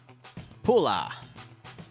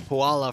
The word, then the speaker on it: Pula: And our third round is going to be on Pula, which I used to call Puala for the longest time, and then I realized that's not how it's spelled.